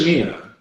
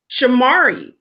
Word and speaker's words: Shamari: Shamari or is it Shamia? Shamari. It's spelled Shamari.